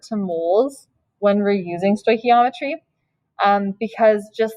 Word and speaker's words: stoichiometry: it's a weird one phonetically it looks like it would be like stoich stoichiometry or something um but it's kind of like this is a k yeah stoichiometry stoichiometry um it's the